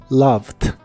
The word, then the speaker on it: loved: una d al final la e no se pronuncia en esta palabra tampoco así que es loved loved la puedes usar en